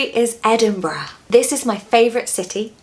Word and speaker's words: Edinburgh: I've heard quite a few Americans saying Edinburgh, which is actually really funny. It's so wrong. It's Edinburgh, bruh. It's just a bruh sound at the end. Don't be put off by that U-R-G-H. Just ignore those letters. So it's Edinburgh. 3 syllables, stress the first one.